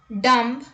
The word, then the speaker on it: dumb: b rule number one b is not pronounced after m at the end of a word let's look at the examples dumb limb crumb comb bomb